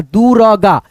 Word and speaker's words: दुर्गा: लेकिन हम ग से पहले र का उच्चारण करेंगे। क्या बताया इसमें? जिस अक्षर पे ये मात्रा रेफ का लगेगा उस अक्षर से पहले इसका उच्चारण र में हो जाएगा।